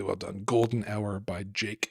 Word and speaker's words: JVKE: So there's a tune that everyone needs to Google because it's gorgeous, called "Golden Hour" by a guy named Jake, which is spelled JVKE because 2023.